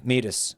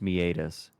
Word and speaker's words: meatus: God I'm having flashbacks to meet us yeah meet us you told me it was actually pronounced it is pronounced meatus which is way fancier right it sounds Irish